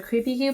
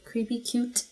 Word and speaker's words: Creepy Cute: I'm going to go in with Void from the Creepy Q palette. Creepy Q? Didn't even pronounce that T-E. Creepy Cute palette.